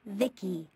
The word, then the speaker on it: Vici: transistors by the way i'm vici pronounced vicky my creator was vivisecto